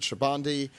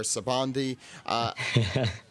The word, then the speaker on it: Sabaody: this Thursday going over Sabaody, Amazon Lily, and Impel Down. You could also pronounce it Shabandi or Sabandi. There's no correct way to say it, so I'm going to just say it the incorrect way.